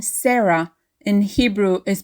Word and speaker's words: Sarah: last syllable so your name can be Sarah or Sarah depending on what syllable is stress Sarah or Sarah in